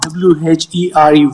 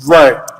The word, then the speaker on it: were: K pneumonia were ver were it's not wh e r e where it's were the way you're going